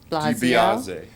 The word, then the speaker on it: DiBiase: I want to say Blasio. DiBiase. DiBiase is the, and if you're a fan of pro wrestling, you'd know Ted DiBiase, the $1 Million Man.